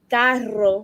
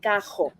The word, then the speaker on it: carro: Some of us pronounce it with the like carro, which is car. Some of us say cajo.